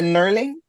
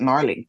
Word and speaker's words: knurling: them tight because the knurling. I realized I've been saying it wrong my whole life. I used to call it gnarling.